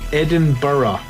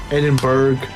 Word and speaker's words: Edinburgh: you say this is edinburgh i don't know why you say borough but that is how you say it edinburgh means that you're a tourist and you are not from scotland edinburgh it's edinburgh no